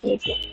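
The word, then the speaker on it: אויל: Ditulisnya evil bukan maksudnya yang bahasa Inggris, bukan, tapi memang ini bacanya evil.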